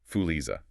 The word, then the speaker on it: Fuliza: It's pronounced roughly Fuliza.